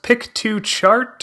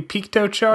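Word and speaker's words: Piktochart: I think it's pronounced Pik to chart or maybe Piko chart I think it's a Piko chart I think like you know picture um but I've talked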